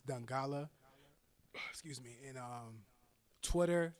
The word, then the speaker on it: Dongala: Everything else is Dongala Official. But if you put in Dongala, you're gonna find me. There's not too many Dongalas out there. And go ahead and spell it. It's Dongala. Don Gala.